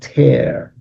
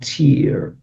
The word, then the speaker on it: tear: So the words we had today for the puzzle were move with speed, were blaze, fly, race, and tear, not tear, tear.